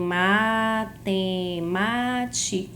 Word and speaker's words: matemática: Aí vamos saber, eu tenho matemática. Essa parte de divisão silábica é bem simples. Qual é a sílaba tônica de matemática? É a sílaba ma. Matemática.